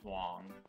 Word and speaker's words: Huang: In one of the Soul Calibur games, and they pronounce it Huang, so it has to be Huang.